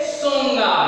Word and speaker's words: Tsonga: This very famous personality is जो Wilfred सोंगा. He will be silent over here.